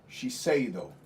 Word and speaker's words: Shiseido: It's, here, I'll have you pronounce it because it's a Japanese brand. Ah. Yeah. Shiseido.